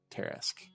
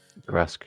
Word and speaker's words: Tresk: They are worshippers of a deep creature that's Imhotep recognized as a Teresk. Is that how you say it, Teresk? Tresk, yeah.